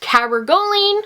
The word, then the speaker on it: cabergoline: various symptoms, and I believe the medication is pronounced cabergoline, and I do have a few notes here on my phone.